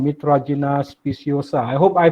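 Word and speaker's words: Mitragyna speciosa: Okay, he's the one that do a lot of research on kratom, or the scientific name called Mitragina speciosa. I hope I pronounced right, Dr.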